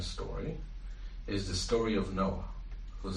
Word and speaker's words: Noah: the second main story is the story of Noah, whose name is really Noach. That's how it's pronounced in Hebrew.